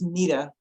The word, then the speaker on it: Neta: It's pronounced Nita.